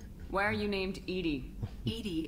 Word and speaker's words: EDI: are you named Edie Edie is the phonetic pronunciation of EDI that is an acronym for enhanced defense intelligence hey where are you